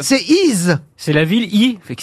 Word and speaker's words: Y: grec le village d' on prononce i he le nom de la ville mais ça s'écrit y une seule lettre dans la vallée de